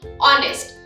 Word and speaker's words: honest: officer a or an honest honest nayhoba pronunciation pronunciation honest so i will use and he is an